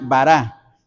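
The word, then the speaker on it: ברא: y esta del otro lado esta palabra se pronuncia bará que es el verbo crear pero crear de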